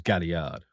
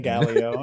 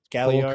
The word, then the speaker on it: Galliard: In fact, his name's Galliard. Oh, I thought you were saying Gallio, and I was like, okay, sure. Galliard.